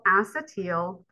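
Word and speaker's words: acetyl: two carbon something called acetal or acetal however you want to pronounce but I always heard people say acetel coenzyme a or COA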